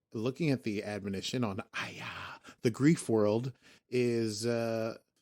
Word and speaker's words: Aia: They never say it, but I'm going to say Aya. It's spelled AIA.